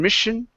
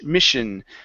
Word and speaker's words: mission: of saying accept and Mission it's accept this Miss Mission okay so this is going to be an sh sh sound and this is going to be a s sound okay so does State